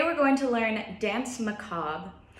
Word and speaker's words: Danse Macabre: going to learn dance McCobb this might look like dance macabre a but it is French so we did not pronounce the last part of that word alright I'll play it